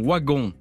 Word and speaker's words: Wagon: qui lui aurait dit je suis marion waggon marion wagon comme le prononce les gens du nord et comme on le prononce dans la famille wagon je suis marion waggon